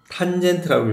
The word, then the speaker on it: tan: 그래서 sin인 a 그다음에 cos 코사인이라고 는다고 코사인 a tan 탄젠트라고 읽어.